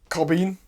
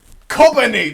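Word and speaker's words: Kobeni: Once again, I was wrong. It's pronounced shit. Cobbini! That's how it's pronounced.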